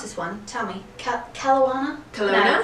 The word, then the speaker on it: Kelowna: Barrie, London, Hamilton, and I can't pronounce this one. Tell me. Kelowna? Kelowna? No, Kelowna.